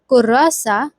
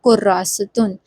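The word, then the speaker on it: كراسة: So we can say this in two ways. Either we will pronounce it as kurasa, means notebook, or we can assume that there is tanween on top of ta. So it will become kurasatun, meaning a notebook.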